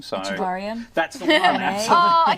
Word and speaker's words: Echevarria: Renee, and I'm going to ask you to pronounce his name. So Echevarria.